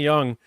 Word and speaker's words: Jung: I'm saying Jung now. Lonnie Young. Uh, basically saying Jung in the chat. Well, it's spelled Jung, but it's pronounced young.